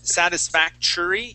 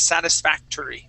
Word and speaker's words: satisfactory: You had said satisfactory using a CH sound here at the end. Okay. The word is satisfactory.